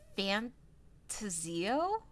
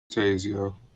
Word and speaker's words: Fantazio: Is it Fantasio? Tazio. There we go. Mike always swooping in with the correct pronunciation.